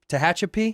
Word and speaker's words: Tehachapi: You grew up, Nick told me, I can't even pronounce it. I tried 6 times. You got it. Tehachapi? Yes, sir.